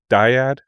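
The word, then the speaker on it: Dyad: know, having their own Diet in the Force. Am I pronouncing that right? Diet? Diad Diad I got it. I've heard people say it both.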